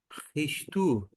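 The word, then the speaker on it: Χριστός: a pronúncia com esse essa consoante vai ter um som de ch alemão ru risto isso risto referência a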